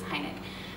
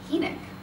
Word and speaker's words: Hynek: my husband, was that it was Hynek, but it's Hynek.